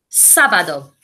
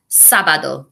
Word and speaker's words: sábado: And Viernes, remember, is pronounced with a B rather than a V. Viernes. Viernes. Sábado.